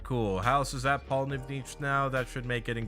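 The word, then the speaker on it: Pollnivneach: we go all right cool house is that Paul NIV Niche now that should make getting back there a lot faster and yes it is pronounced Paul nivnich it's very strange I forgot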